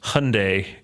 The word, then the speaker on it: Hyundai: series of commercials that said it's pronounced Hyundai and no one listened at all they had